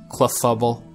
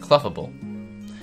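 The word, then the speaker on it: Clefable: See, it's funny because he said the name not how it's supposed to be said. That's how you say it. Cluffable. You're gonna sit there and speak the words to me that it's pronounced cluffable.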